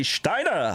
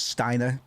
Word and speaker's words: Steiner: woo aha princess I Steiner have come to your rescue I normally pronounce it as stiner but I just I I can't help but sometimes had the sh to the front of s words just to be [